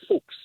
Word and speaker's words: Fuches: less than year ago my last name is fuches pronounced in Europe as fuks fuks translates to Fox